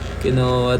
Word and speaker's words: quinoa: lang natin pakinggan pa kung ano yung niya kinowa team Salamat nagbabaga ka kinowa kinua daw kinua